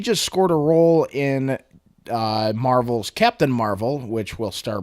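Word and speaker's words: Mar-Vell: will play Captain Marvel Captain Marvel but with another L and a dash in his name so that you pronounce it Marvel and I don't read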